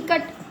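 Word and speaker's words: cut: यू का उच्चारण अ कब आता है? जब दो सिमिलर कोसोनेंट होता है। इधर भी कोसोनेंट, इधर भी कोसोनेंट और यहां पे आपको यू दिखे। ठीक है? तो इसका अर्थ होगा अ जैसे सी यू टी कट।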